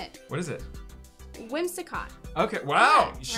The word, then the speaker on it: Whimsicott: Whimsicott.